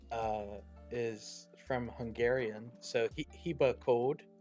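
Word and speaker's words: Hibakód: is from Hungarian so he hea Cod uh would be like how it's How It's pronounced in Hungarian and it just means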